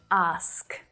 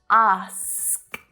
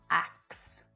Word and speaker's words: ask: it as well but it is ask not ax and actually that's not